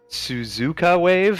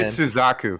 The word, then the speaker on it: Suzuka Wave: I I always mispronounce this, so I'm going to make sure I get it right. It's Suzuka wave. I always say Suzaku, but it's Suzuka Wave.